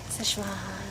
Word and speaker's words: Szechuan: And the last one is a Chinese Szechuan chicken. Hey, you said it right. Szechuan.